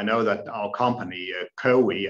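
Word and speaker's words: COWI: that our company uh kowi as we pronounce it in denmark uh is perhaps not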